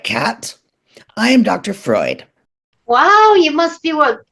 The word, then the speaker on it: Freud: Freud. But that's a French word. It's supposed to be pronounced froid. It means cold. I prefer the American pronunciation.